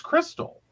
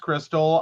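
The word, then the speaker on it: Krxstxl: the family the name of her daughter it's Crystal k r x s t x l she wants to name her daughter k r x s t XL confused the name is pronounced Crystal I already don't like the name but it's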